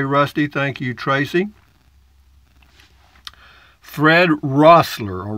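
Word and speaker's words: Roessler: Fred Rossler, or Wrestler, I guess this is pronounced Rossler, R-O-E, Rossler.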